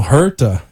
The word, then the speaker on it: Huerta: said I said it wrong so it's hurt you got it right okay and you are